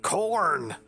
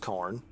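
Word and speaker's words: Khorne: not like a stockacorn k-h-o-r-n-e i think i think it's pronounced corn it'd be great if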